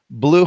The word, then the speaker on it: Blu: Entekra, Entekra, Blue Homes, BLU, and Blockable, BLOKABLE.